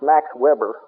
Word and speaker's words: Weber: 300 years later, another German named, and I'll give you the English pronunciation, it's Max Weber in English, Maxweber, wrote a book called